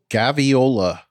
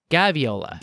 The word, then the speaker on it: Gaviola: I even heard this gaviola gaviola gaviola think of ravioli with an a instead of uh an I uh I'm the worst